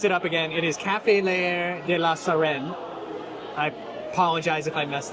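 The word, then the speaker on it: Café L'Air de la Sirène: Amy, what was the proper pronunciation? French cafe. Baguette. Croissant. So before I mess it up again, it is Café Leair de la Sirène.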